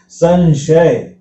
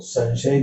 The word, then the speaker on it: संशय: संशय, तो संशय का में न का उच्चारण करा।